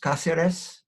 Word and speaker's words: Casillas: your name properly pronounced Casillas yes the accent on the first syllable is that right yep